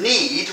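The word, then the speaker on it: knead: I better tell you that need as in I need you is spelled NE e ne e e d and need what you're doing what I'm doing to the flower is spelled k n e a d so you can see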